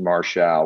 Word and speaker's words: Marshall: what other people think that is my name that's how we're going to pronounce it it's not your fault you didn't know the record has been corrected qt martial well thank you for